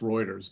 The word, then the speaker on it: Reuters: It's pronounced Reuters, by the way.